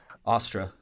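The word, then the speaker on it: Austre: god named Australia um Austra is how they pronounce say what Astra God of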